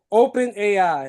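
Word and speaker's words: OpenAI: Open op open eyes. Open eyes. I think that's how you pronounce it. Open AI.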